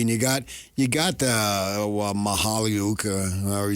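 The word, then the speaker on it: Mykhailiuk: You got you got the Mahaliuk, however you say his name. He has been around Mychailiuk.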